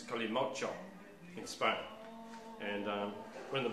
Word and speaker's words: Kalimotxo: That is Colimocho. If you look up the spelling of it, there's an X and an O in it, which is pronounced ch, so it's Colimocho in Spain.